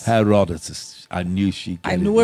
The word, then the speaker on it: Herodotus: 5th century BC Greek historian Herodotus. That's how you pronounce Herodotus. it. Herodotus.